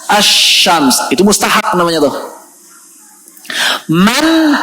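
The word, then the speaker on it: الشمس: Contohnya misalnya asyams. Tulisannya al-syams. Tulisannya al-syams. Bacanya asyams.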